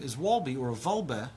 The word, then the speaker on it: Wolbe: Because there's no W in Hebrew, right? Even though it's spelled in English and in German, where it originates from, it was with the W, but it's Vav, Vav, Lamed, Bet, He.